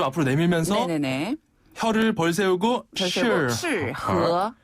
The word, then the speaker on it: 适合: 네, 요 적합하다, 어울린다라는 표현을 중국어로는 适合라고 해요. 适合. 네, 한 번 더, 适合. 실, 이 발음이 어렵네요.